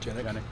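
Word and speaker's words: Genyk: Is that how it's pronounced? Genick.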